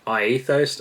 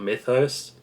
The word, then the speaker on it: Myethos: This is by Myethos, I believe it's pronounced, and not Mythos. Myethos is what I've heard.